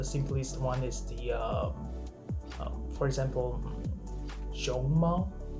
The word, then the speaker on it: 熊猫: The simplest one is for example, 熊猫, 熊, rising tone, 猫, the flat tone. If you say it like this, that means panda.